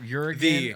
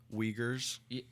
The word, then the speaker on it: Uyghurs: Uruguay? The Uyghurs.